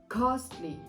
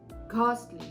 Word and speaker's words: costly: the second word is costly costly okay now in the pronunciation you can choose to pronounce the T now it's a very soft T right you don't have